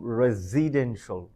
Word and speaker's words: residential: দ্য সাউন্ডটা হবে এরকম residential. Am I right? Oh no, my mistake. We have to stress the third syllable.